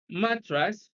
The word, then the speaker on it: mattress: on the first syllable see mattress stress is on the first syllable B cigar stress is